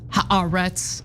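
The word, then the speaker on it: Haaretz: So, uh, this is a report by an Israeli publication, Harets. We talk about it all the time. I know it's pronounced arets. I'm going to pronounce it like an American would.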